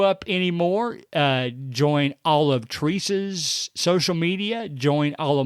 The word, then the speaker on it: Theresa: It is Theresa. Okay, so the H is silent, basically.